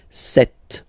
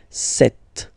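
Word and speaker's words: sept: Then here, remember, P is not pronounced, okay? It doesn't exist, so you get this set sound, set, set.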